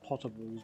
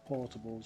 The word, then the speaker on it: potables: I think I was actually meant to say potables, but I pronounced it as portables for some reason.